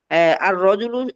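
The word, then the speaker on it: الرجل: এই যে এখানে তোয়া, তারপরে ত, র, তারপরে জা, তারপরে সিন, এই হরফগুলো হুরুফে শামসিয়া, এই জন্য আলিফ লামের ওই লামটা পড়া যায় না।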